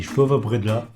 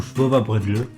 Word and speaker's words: Schwowebredele: Alors, ces petits gâteaux, c'est des gâteaux, ça s'appelle des Schwova-Bredla, ou Schwova-Bredle, hein, on peut le prononcer comme on veut.